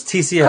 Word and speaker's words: Tcl: h well PHP do you say tickle just sounds stupid it does sound stupid don't be an ass yeah just call don't say tickle it's TCL call it TCL come on people let's